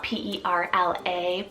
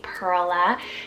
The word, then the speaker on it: Perla: Vintage name Perla spelled p-e-r-l-a Perla this is a great one if you want that Pearl nickname um but making it a two-syllable name Perla very beautiful it's a